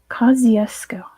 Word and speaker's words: Kosciuszko: a z in there Kosciuszko of course that's not how you say it in Polish but that's how you say it in Australian English that's not how you